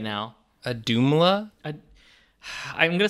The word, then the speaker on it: Auðumbla: be right now a doomla i'm going to say it right it's a-u-d-m-u it's got a you the word dumb and then la at the end jacob this is you